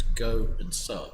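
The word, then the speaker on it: Gosa: It's like nobody can pronounce our last name, which is the simplest last name. It's 4 letters. It's Go and Sub, right?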